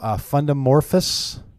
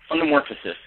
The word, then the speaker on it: Fundamorphasis: Robb, we're just sitting here trying to figure out how you pronounce the title of the book, though. Fundamorphous? Fundamorphosis. Fundamorphosis.